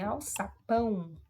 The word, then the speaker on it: alçapão: Então, no item A, gente, aqui em alçapão, você observa que a sílaba mais forte é o pão, né?